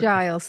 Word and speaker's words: Giles: people can enjoy it um how do I pronounce the surname again just to make sure I don't buter it Giles thanks for asking everybody gets it wrong no